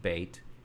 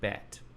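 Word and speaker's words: בית: It's a part of the vowel, the E-Y or E-I of bait, which is why I pronounce it bait and not bet.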